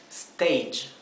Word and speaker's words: stage: Stage. ¿Bien? Fíjense que el final de esta palabra se pronuncia y, ¿sí? Por eso lo he escrito GH. Stage, stage, ¿bien?